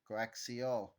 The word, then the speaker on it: coaxial: Mis pronouncing it not give you the correct pronunciation coaxial so to summarize comparing a wi pair in